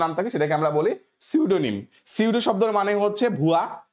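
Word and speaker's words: pseudo: কি বুঝতে পারছো তো সিউডো শব্দের মানে হচ্ছে ছদ্দ ছদ্দাবেশ ধারণ করা ছদ্দাবেশ ধারণ করা সিউডো শব্দের মানে হচ্ছে ছদ্দাবেশ ধারণ করা কিন্তু আগে এখানে সিউডো এস থেকে শুরু হয় পি টা আমার সাইলেন্ট তাইলে আমি কি শিখলাম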